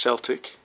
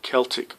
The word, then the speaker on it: Celtic: A lot of people pronounce him as Celtic. It is actually Celtic Predator from the Celtic Warriors. I'm not sure why people call it Celtic.